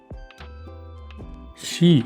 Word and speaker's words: し: இந்த கேரக்டரோட உச்சரிப்பு வந்து பார்த்தீங்கன்னா நம்ம தமிழ்ல வந்து ஷி அப்படின்னு சொல்லுவோம் இல்லையா அதுதான் வந்து இந்த கேரக்டருக்கான உச்சரிப்பு.